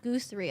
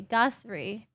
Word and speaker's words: Guthrie: are you doing today pronounce gothary gossery not goose three okay guthrie okay yeah i i i